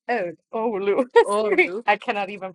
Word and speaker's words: Oulu: Olo? Oh, Oulu. Sorry, Olu. I cannot even pronounce it Okay. myself. Um, Oulu.